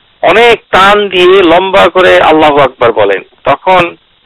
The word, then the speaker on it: আল্লাহু আকবার: কিন্তু যদি কেউ করে, যেমন কেউ যদি আল্লাহু আকবার কথাটু বলার আগে আ যদি বড় করেন আল্লাহু আকবার, তাহলে তার নামাজ নষ্ট হয়ে যাবে।